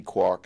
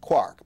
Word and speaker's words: quark: it to be pronounced Quark because it goes with bark and Hark and Mark and so on but um but I